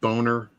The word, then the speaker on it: Bonner: know that um Paul Bonner who did all that um it's pronounced boner yeah um he's not